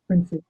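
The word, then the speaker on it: Brinsea: Is it pronounced Brincia or Brincia? Brincy? Brincy.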